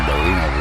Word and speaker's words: Galina: I am pronouncing that right. Galina? Galina, yeah.